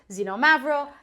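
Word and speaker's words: Xinomavro: with an X and then learn that it's pronounced zenom mavro and they don't know what it tastes like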